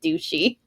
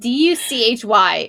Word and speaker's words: Duchy: But to me, it spells douchey. It's Duchy, and to me, that Isn't spells it douchey.